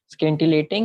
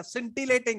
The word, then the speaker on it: scintillating: अच्छा सर, स्किंटिलेटिंग, अरे इनकैंडिसेंट, स्किंटिलेटिंग नहीं है, वर्ड की बैंड ही बजा देगा, सिंटिलेटिंग है, सी साइलेंट।